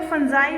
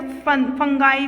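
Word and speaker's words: fungi: फंगस या तो फंजाई बोलते हैं या तो फंगाई भी बोलते हैं कुछ, ये अपने अपनी प्रोनाउंसिएशन होती है, इसके ऊपर कोई ज़्यादा इफेक्ट नहीं है।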